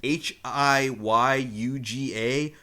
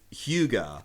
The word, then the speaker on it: Hyuga: The way they spell it on screen is Hiyuga, but the pronunciation is Hyuga.